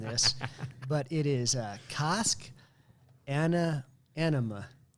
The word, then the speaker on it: Annamh: the second word i was going anna kind of like ella from craig ella key i thought maybe anna with the girl's name but i have no idea why there's an m and a silent h on the end so well you nailed